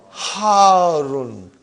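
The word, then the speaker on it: حار: Al-labanu harun. Because the shadda is on ra. So you got to pronounce it properly.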